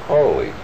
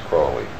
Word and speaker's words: Crowley: My name is Aleister Crowley, because that I am holy. My enemies say Crowley and wish to treat me foully. So now you'll never forget how to pronounce it. It's Crowley.